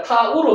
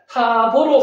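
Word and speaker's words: תו: 알레벳 김멜탈레테 와보자인들게서 카프라맥눈에 아인페차대 코포레이시 신신타고 신신타 히보리어 알파벳 22자 요것도 마지막자가 타우로 돼 있는데 타보로 발음하기도 합니다. 상관없습니다.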